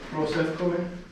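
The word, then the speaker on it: proseuchomai: All right, so we have one on the prosefkome, or the pray word. Yes. Very good. So we have pros, so we have the one vowel there, omicron, so it should have one vowel sound per syllable, pros, and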